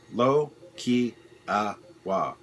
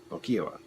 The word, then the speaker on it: Lokiowa: You're getting closer on how to say my name. Lo-ki-a-wa. Lokiowa.